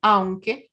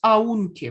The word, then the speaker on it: aunque: Es aunque. Con esta pronunciación. No es aunque, por el amor de Dios, es aunque. Porque A es una vocal fuerte, U es débil.